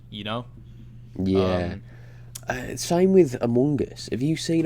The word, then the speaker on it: Among Us: having with minecraft you know yeah same with among us have you seen a mungus same with what now uh this game called a mungus a mungus oh like among us among us yeah have you seen that a